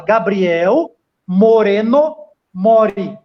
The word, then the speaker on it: Gabriel Moreno Mori: Mas vamos lá, o nome dele é Gabriel Moreno Mori. Quem está acompanhando a gente, segue o Gabriel no Facebook. É muito simples, é como se fala, Gabriel Moreno Mori.